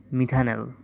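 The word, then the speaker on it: methanal: যেমন মিথানেল সিচ এইচিও এর নাম হচ্ছে কি? এর নাম হচ্ছে মিথানল। অ্যালডিহাইডের যেকোন যৌগকে সবসময় উচ্চারণ করা লাগে নেল দ্বারা।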